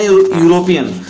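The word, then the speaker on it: European: तो लिखा तो वोवेल से है इ है बट प्रोनंसिएशन आपका कंसोनेंट आ रहा है।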